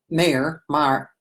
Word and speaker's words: Maher: Maher rhymes with star.